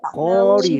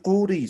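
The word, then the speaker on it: quri: Entonces, en la pronunciación no voy a decir curi, sino voy a decir cori. Cori, Cori. Cori. ¿Ya? Cori. Cori. Como si Cori. fuera la vocal O.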